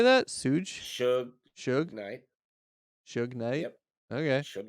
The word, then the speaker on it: Suge Knight: Suge Suge Knight.